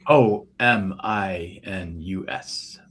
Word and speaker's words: Ominus: I can say it right. See, if Katie's here, she has a heck of a time saying it. It's just ominous. The regular word ominous with the U with the O taken out of it, just